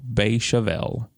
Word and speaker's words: Beychevelle: So let me introduce you to the dragon wine known as Chateau Beychevelle. So for our non-Francophiles out there, that is spelled B-E-Y-S or C-H-E-V-E-L-L-E.